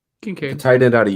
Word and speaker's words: Kincaid: Kincaid.